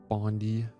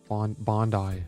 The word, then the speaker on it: Bondi: Bondi. Bondi. That's how you... Why would I care about that? How you pronounce that?